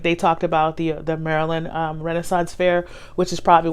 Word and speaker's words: Maryland: was born in Baltimore Maryland so I say Merlin like that's how you say it when you're from Merlin when you don't when you speak I guess he panics anyway it's a Maryland so what I that